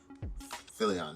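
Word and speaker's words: Nathan Fillion: played by uh nathan uh phillian that's how you say his name philly on yeah nathan philian plays uh tdk and there's like an ongoing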